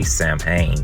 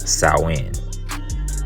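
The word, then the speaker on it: Samhain: as South Wind okay looks like it should say sam Hayne but again it's pronounced salwin okay it's uh it's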